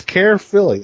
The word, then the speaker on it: Caerphilly: But it's Care Philly. I think that's how it's pronounced. Is there a P in there somewhere? There is a P. I It know is it. actually. All right, for those that need to know, it's CAERPHILLY. Cool.